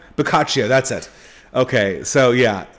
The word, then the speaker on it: Boccaccio: in quarantine so that's uh yeah it's it's bakakio bocaccio boccaccio that's it okay so yeah um i should have practiced the pronunciation of that before i actually told the